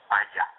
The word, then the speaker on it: paella: Paella, we pronounce it.